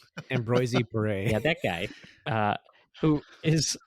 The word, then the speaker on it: Ambroise Paré: No, you just say Ambroise Paré. Like that's French for Ambroise Paré.